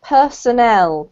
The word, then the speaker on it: personnel: is this one here so this is actually pronounced Personnel personnel personel yes and it's different from personal